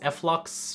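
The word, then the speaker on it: f.lux: as efflux or flux i think it's flux but i normally pronounce it as efflux what do you guys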